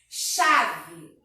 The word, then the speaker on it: chave: Por exemplo, a palavra aí, ó, chave. Percebe que o CH, nesse caso, ele tem som de X. A gente não só tem um único som, por isso que é um dígrafo, tá?